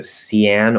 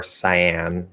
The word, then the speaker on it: cyan: break down are okay so cyan or cyan doesn't matter pick one um i think also some people say cayenne uh although that would